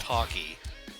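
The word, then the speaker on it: Hawkee: And also, the last stage of the game, I swear it's it's another head-to-head race against hockey. And I spelled like hawk but with two e.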